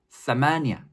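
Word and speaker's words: ثمانية: 위에 부분이 겹친다면 비슷한 모양이 나오겠죠 8 아랍어 발음으로는 사마아 사마아 다음은 구 구는 우리가 쓰는 구의 모습과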